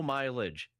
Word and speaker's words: mileage: When she hits stuff like low mileage, that's she can read English better.